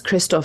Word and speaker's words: Kristof: How do you say your name? I've heard a lot worse. It's Kristof usually.